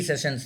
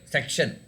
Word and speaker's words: session: the three sessions no it's called session s e double s i o n but your pronunciation was like s c c t i o n section but actual this thing is session okay the head of